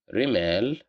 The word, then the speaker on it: رمال: Rimal, which means sand, here we have the letter Ra with Kasra, so that's why we pronounce it as Ri.